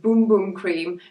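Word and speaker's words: Bum Bum Cream: people talking about this and it's a Brazilian pronounced boom boom cream but I like it because it makes me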